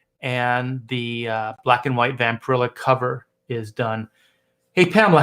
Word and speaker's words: Vampirella: Vampirella Vampirella yes yeah I always want to say Vampirella it's vampire illa yeah so yeah so